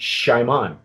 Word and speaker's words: Xiaman: worth looking for and it's pronounced it shimon okay you've not I can't